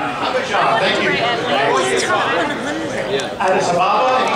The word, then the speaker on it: Abidjan: I can't pronounce that - Abidjan, thank you.